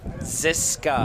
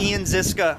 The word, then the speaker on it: Ziska: Now, So, Ian, and I want to make sure pronunciation on the last name. Ziska. Ian Ziska.